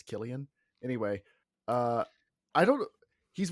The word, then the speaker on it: Cillian: flag but it totally I think it's Killian I'm not trying to be that guy and correct you but I've always thought it was weird because it's definitely spelled like Cillian but I've multiple people have corrected me that it's Killian anyway uh I don't